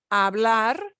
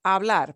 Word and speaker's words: hablar: we don't pronounce pronunciation you don't pronounce the h hablar i'd like everybody